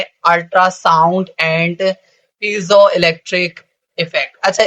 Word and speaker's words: piezo: अच्छा, इसकी ना दो प्रोनाउंसिएशन है, इसे पीजो इलेक्ट्रिक इफेक्ट भी कहते हैं और दूसरा इसको इस तरह भी पढ़ते हैं पीईजो। पीई पीई की मतलब थोड़ी सी प्रोनाउंसिएशन निकालनी है, पीईजो इलेक्ट्रिक इफेक्ट। ठीक है, तो आप इसको पीजो इलेक्ट्रिक इफेक्ट पढ़ो या पीईजो इलेक्ट्रिक इफेक्ट पढ़ें, दोनों प्रोनाउंसिएशन आर गुड।